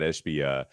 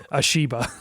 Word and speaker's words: Ishbia: Did I get that name wrong? I think I said Ashiba. I think I turned him into like a Mitsubishi. I think I turned him into a foreign car.